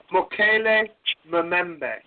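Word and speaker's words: Mokele-mbembe: I guess how you say it is the Mokele Mbebe. I don't know if that's a correct. I'll do it for you. Mokele Mbebe.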